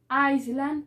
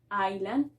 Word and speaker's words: island: mismo te recuerden que no vamos a decir iceland sino island y no vamos a